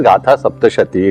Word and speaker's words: Gatha Saptashati: In Sanskrit it should be pronounced as Gatha Saptashati.